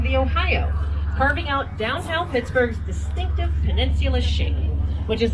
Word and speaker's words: Pittsburgh: And Forbes thought, I'm paraphrasing, and Forbes said, well, how about we call it Pittsburgh? Yes, the H on the end of Pittsburgh was originally pronounced Borough, because Forbes was a Scotsman.